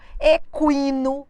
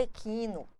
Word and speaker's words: equino: Linguiça, sequestro, equino, aguentar. Tem gente que fala equino. Pelo amor de Deus, é um erro.